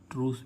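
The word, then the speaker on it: truce: है ई तो इसको हम क्या पढ़ेंगे ट्रू ट्रूस मीस होता है युद्ध ब्रम संधि क्या होता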